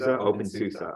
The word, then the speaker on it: openSUSE: Is that how you pronounce it? SUSE? OpenSUSE, okay.